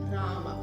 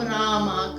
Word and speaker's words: राम: लाने के लिए हम रामा कृष्णा इस तरह से उच्चारण करते हैं, जो गलत है।